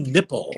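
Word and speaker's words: Knipple: And then me and JT are doing the game and I said, "It's Jimmy nipple with the extra point spelled K Ni PL E but pronounced nipple."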